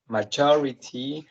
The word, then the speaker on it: maturity: it's right okay so maturity has four syllables and the stress is in the second one majority uh material it